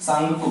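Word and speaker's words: Tsangpo: सांगपो आधा ग शुरू में इंग्लिश में पढ़ेंगे तो टी लिखा होता है। टी साइलेंट होता है जिसे हम सांगपो कह सकते हैं।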